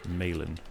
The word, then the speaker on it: Malin: keep that in mind something of Malin Akerman the actress so it's Mayland Malin I will try and